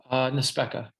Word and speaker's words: Nespeca: Rodney Nespeca. I did pronounce that correctly? Nespeca.